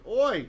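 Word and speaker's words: אוי: VAI meaning Wo right it would have been read oi you read like oi like you probably heard Jews like to say oi right it's related to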